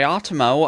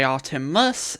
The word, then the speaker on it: Artemo: Since DJ Artemo pronounced DJ Artemo and not DJ Artemus, illiterate classmates of my